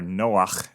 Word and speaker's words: Noach: And Noah, or Noach, as it's pronounced correctly, means rest.